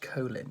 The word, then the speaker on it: Colin: chap was so esteemed colin powell decided he pronounced it colin powell which is the ordinary american pronunciation so as he said